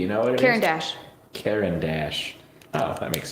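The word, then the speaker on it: Caran d'Ache: Caran Dash.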